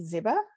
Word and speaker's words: Ziba: Our next speaker is Ziba. Did I pronounce that correctly? It's Ziba, but it's okay.